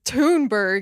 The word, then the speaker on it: Thunberg: That's my primary recommendation for So, I didn't know her name was Tounberg is how you say her last name.